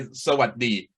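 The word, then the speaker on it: สวัสดี: Just say Sawadee.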